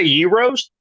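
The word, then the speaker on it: gyros: gyos Gros very high you want pronounce it you say Yos Yoo okay when you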